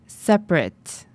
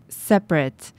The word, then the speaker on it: separate: 자, 여기서 여러분이 한 가지 주의하셔야 할 점은 이 단어는 동사로 쓰일 때는 separate, separate 이렇게 끝이 a2로 발음되지만 이 문장에서처럼 형용사로 쓰일 때는 separate, separate 이렇게 끝이 at가 아니라 it로 발음이 돼요.